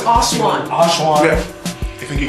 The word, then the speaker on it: Oshaun: Oshaun in the building, man. Oshaun. Definitely, man. I heard Definitely. people mess it up though. So. How have they messed it up? No, it's Oshaun.